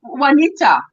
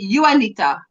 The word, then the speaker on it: Juanita: country, we would say Juanita, but I know you say Juanita. Yeah, It's Juanita. that's Juanita. Yeah. Yes, but we pronounce the J as You.